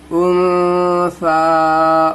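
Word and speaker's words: أنثى: नहीं पढ़ रहे हैं, पर या को नहीं पढ़ना है, या भी साइलेंट है यहाँ पर, और या को नहीं पढ़ना है।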